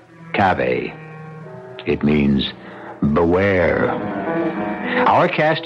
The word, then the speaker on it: cave: I equate cave with a Latin word spelled the same way c-a-v-e but pronounced Cafe it means beware our